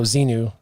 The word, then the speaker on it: Xenu: Xenu on his side Xenu is that how you say it yeah or is it Zeena did you mean Zeena no Xenu yeah cuz he met Zeena like the princess warrior no no Seenu it's for his religion